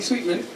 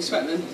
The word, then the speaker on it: Swetman: Oh, well, you might not know, but my name is Sophie Sweetman. And it's spelled Swetman, so quite often I get introduced to Sophie Swetman.